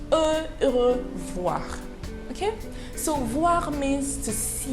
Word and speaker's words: au revoir: Now, goodbye number one is the word au revoir, but it is pronounced as au revoir.